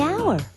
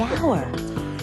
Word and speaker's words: hour: The hour. Wait! H is not a vowel sound. It's a consonant sound. But it's not the first sound. The H is silent. The hour.